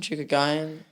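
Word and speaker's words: Chookagian: Chukogayan.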